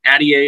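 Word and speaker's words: Altier: You asked some good questions of, I think, Jeff Addier is how you say his name, the Stetson athletic director, who was the chair of the tournament committee.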